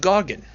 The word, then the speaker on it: Gorgon: It's pronounced Gorgon.